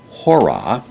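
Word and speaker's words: ὥρα: So it is coming, namely hora. The word from which we get the word hour means hour. In this case, the H sound is pronounced.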